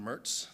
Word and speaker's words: Mertz: That's spelled Cheroz. And then it's Arizona HIDTA Director Mertz.